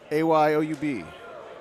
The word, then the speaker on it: Ayoub: to pronounce that name you're better pronouncing than I am a y o u b perfect hey you nailed it Ayoub versus Gavin Herron